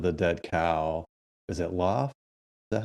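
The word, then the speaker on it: L0pht: course cult of the dead cow is it loft is that how you say it yep l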